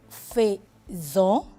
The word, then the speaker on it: faisons: Nous faisons. Nous faisons. Aquí abrimos un poquito la boca para darle el sonido de la E.